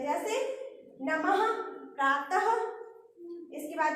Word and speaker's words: प्रातः: विसर्ग का उच्चारण हा की तरह होता है। जैसे अपने विसर्ग कैसे प्रातः, तो हा आया लास्ट में, तो ये क्या होता है हा की तरह इसका उच्चारण किया जाता है।